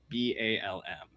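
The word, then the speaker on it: balm: And again, because I was called out for poor pronunciation earlier, uh that is the bomb, not the bomb. B A LM.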